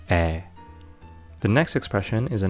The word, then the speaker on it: 의: Also, remember that when 의 is used in this way, we can pronounce it as either 의 or 에. But it's much more common in spoken Korean to pronounce this as 에.